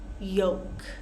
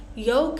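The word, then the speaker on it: yolk: be salmon talk walk yoke yoke think of the word woke or joke they all rhyme yoke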